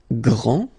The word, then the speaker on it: grand: exactly the same thing this final d is not pronounced okay so and then